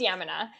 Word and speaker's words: Yamuna: i was reading your profile and it says yamuna body rolling can you share what that is that sounds so interesting yes i have a ball right beside me so it is it's pronounced yemena and everyone gets that one slightly off so